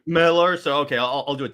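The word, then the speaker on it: Millar: so the other thing is like but it's pronounced Miller Miller so okay I'll do it that way but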